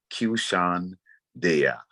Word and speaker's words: Qshan Deya: QSHAN space DEYA, pronounced Qshan Deya.